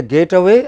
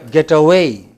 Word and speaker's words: get away: Is it a getaway or get away? What should it be? Get away. You know, the stress is on way.